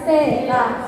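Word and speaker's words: セーター: Bacanya bukan sita ya, seta.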